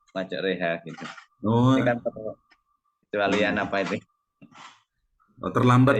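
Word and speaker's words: مجريها: yang dibaca miring ini tulisannya Ma Roha Nggih bacanya maj reha ini ada keterangannya apa ini ya Eh ada istilah tapi lupa Tapi bacanya Ma reha gitu kealian apa itu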